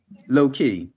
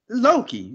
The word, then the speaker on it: Loki: Loki, ain't that how you pronounce it? Now you're saying it right. Before you didn't say that. You made it seem like it was two words, like Lowkey.